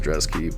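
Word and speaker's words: Brzeski: Still don't understand why it's pronounced Drezky, but Lucas Drezky by first round KO.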